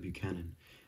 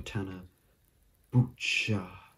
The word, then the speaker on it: Buchanan: boccen something like that but it's actually tana buchanan is how he says it in interviews and when he introduced himself so that's how it is town of buchanan not tanabatchanan or tana butcher another like a character's name that's often i'd